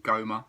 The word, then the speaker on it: GoMA: me that the gallery of modern art or goma as it is pronounced on the south bank of brisbane as